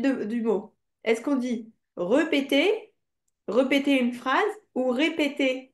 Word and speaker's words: répéter: Repeter. On dit répéter.